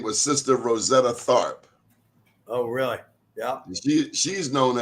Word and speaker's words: Tharpe: in 1915, and her name was Sister Rosetta Tharpe. Oh, really? Yeah. She's known as the mother of rock and roll, the godmother of rock and roll. I didn't know that. Rosetta Parks? Tharpe, T as in Tom, Oh.